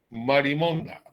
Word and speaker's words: marimonda: sus anónimos creadores llamaron marimonda, como alusión insinuante, sin tilde y sin acento en la última A, repetimos, al denominativo que le dieron las francesas a las vergas barranquilleras.